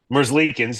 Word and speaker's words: Merzlikins: I can't pronounce his name. Elvis is in the Who? building. Merzlikins.